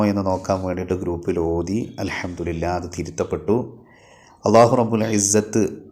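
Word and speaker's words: الحمد لله: പലതവണ പറയുന്ന ഒരു വാക്കാണ് അൽഹംദുലില്ലാഹ് എന്നുള്ളത് അൽഹംദുലില്ലാഹ് ഹാ വെളിവാകണം അവസാനം അത് പറഞ്ഞ് പറഞ്ഞ് പിന്നീട് അൽഹംദുലില്ലാഹ് അൽഹംദുലില്ലാഹ് ഹംസ ഇല്ലാതെ പറയുന്ന രൂപത്തിലേക്ക് എത്തിയിട്ടുണ്ട് അൽഹംദുലില്ലാഹ് അൽഹംദുലില്ലാഹ് എന്ന് പക്ഷേ അത് നിസ്കാരത്തിൽ ആകുമ്പോൾ വലിയ പിഴവ് തന്നെയാണ് അതുകൊണ്ടുതന്നെ ഹംസ ഒഴിവാക്കിയിട്ടുള്ള ഉച്ചാരണം അത് തെറ്റാണ് അത് ശ്രദ്ധിക്കുക തന്നെ വേണം തൊണ്ടയുടെ അടിഭാഗത്തുനിന്നാണല്ലോ ഹംസ ഉച്ചരിക്കേണ്ടത്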